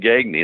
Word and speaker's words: Gagne: It's a French name. It's really Gagne is the way it's pronounced.